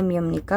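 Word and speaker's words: ㅂ니다: Ini tulisannya biepnika, sepnika, tapi kita bacanya mim, b-nya dibaca m ya. Jadinya miemnika sama semnika.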